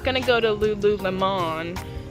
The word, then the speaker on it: Lululemon: You know, I'm not gonna go to Lululemon. I say it like lemon because it's bougie, like $80 pair of leggings bougie.